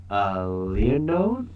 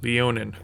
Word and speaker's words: Leonin: Leonode? How do you pronounce it? Leonin. Leonin, yeah, because they have a speed of 35 feet instead of 30.